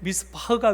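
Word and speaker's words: מִשְׂפָּח: 여기 제가 히브리어 원어의 발음을 적어놨는데요, 미슈파트를 기대했는데 미스파흐가 웬 말이며 찌다카를 기대했는데 째아카가 웬 말이냐, 이렇게 지금 쓰고 있습니다.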